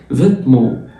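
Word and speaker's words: vêtements: اللبس او الملابس فيتمون، فيتمون الاو ان لسه قايلين عليها بتتنطق اون تبقى فيتمون، والتي ما بتتنطقش فيتمون، فيتمون.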